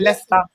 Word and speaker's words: Leicester: We pronounce it Leicester.